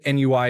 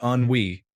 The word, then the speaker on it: ennui: It's not ennui apparently, but ennui.